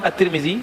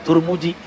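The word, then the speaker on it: At-Tirmidzi: Hadis riwayat Imam At-Tirmizi dalam bab doa-doa. Jangan-jangan dia nggak baca hadis Tirmizi kan? Bacanya cuma hadis Turmuji.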